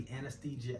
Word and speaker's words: anesthesiologist: don't know where the anesthesiologist, how you say it? Anesthesiologist. Anesthesiologist. You keep adding a G in there. Oh, anesthesist. Anesthesiologist. Oh, anesthesi. Oh, anesthesiologist. The anesthesiologist. You keep adding G's.